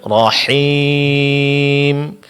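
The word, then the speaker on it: الرحيم: Huruf ha terakhir, Bu. Rahim. Samakan dengan Rahman. Nah, Ustaz.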